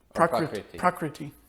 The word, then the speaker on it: prakriti: living entities are, what prakriti is, prakriti being material nature, what the cosmic manifestation is, so the world around us. Is it prakriti? Prakriti. It's not a long E.